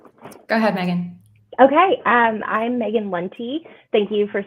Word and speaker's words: Maegan Lunte: Okay, I'm Maegan Lunte.